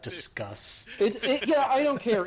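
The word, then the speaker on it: Disqus: like barely functioning right Pronounced discuss. Yeah, I don't care. It's disquous.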